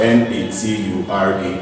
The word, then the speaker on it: nature: In certain words, T is realized as ch in certain words. Simple words are N-A-T-U-R-E. This word is pronounced as nature. Nature. You realize that T there is turning to ch.